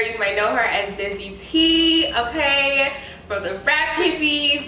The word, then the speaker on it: Desiitee: Okay, so I am Desiitee, also known as Desiree, also known as Des, also known as her best friend, also known as her bag.